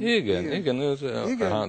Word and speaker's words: igen: And two of them has got this Hungarian accent, always Igen. Igen. The prosody is always, the accent is on the beginning of the word.